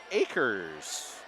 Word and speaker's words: Akers: Yeah, we got that pronunciation corrected. Akers. All right.